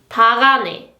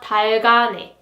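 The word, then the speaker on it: 닭 안에: And its pronunciation is 다가네, 다가네, 다가네. This is not 달가네, 달가네, but you have to pronounce it like 다가네, 다가네.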